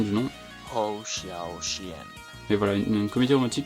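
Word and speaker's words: Hou Hsiao-hsien: Donc de Woo Isiao Isen. Cheerful Wind de Woo Isiao Isen. Bon, c'est dur à dire. Voilà, je mettrai la prononciation du nom. Ho Xiao Xian.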